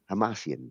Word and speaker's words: Hamasyan: And Tigran Hamasyan, I, Tigran Hamasyan, Hamasyan? Hamasyan. There you go.